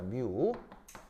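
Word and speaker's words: μ: 어 얘 발음은 뮤입니다. 뮤.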